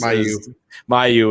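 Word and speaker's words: Mailloux: dave it's hard to add one number in any event uh logan uh whatever as he just pronounced his last name as mayu is selected by the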